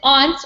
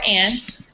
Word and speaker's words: aunt: And then aunt or aunt, they're both pronunciations are right.